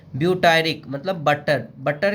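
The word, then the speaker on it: butyric: ब्यूटायर है तो एक एसिड लग गया ब्यूटायरिक एसिड, बटरिक एसिड नहीं, ब्यूटायरिक एसिड।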